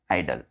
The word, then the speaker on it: idle: क्या बोलते हैं, आइडल, निष्क्रिय, यानी कि inactive, not moving, called आइडल। तो देखिए दोनों के प्रोनाउंसिएशन सेम है, आइडल, आइडल, IDOL, IDLE, आइडल, आइडल, लेकिन इसके प्रोनाउंसिएशन सेम, लेकिन स्पेलिंग और मीनिंग अलग अलग, तो इसलिए इनको क्या बोलेंगे हम, होमोफोन्स।